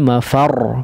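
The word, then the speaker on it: المفر: Di sini ada sedikit penekanan sebetulnya ketika huruf ra bertasydid berada di akhir waqaf ya. Ainal mafar, far ya, seolah kita ingin mengucapkan huruf yang bertasydid ya, sebagaimana biasanya ya. Nah, sedikit jadi tidak, misalnya wa khasafal qamar ya, kalau di sini ainal mafar, far ya, sedikit ditekan ya dari segi suaranya ya, khusus untuk huruf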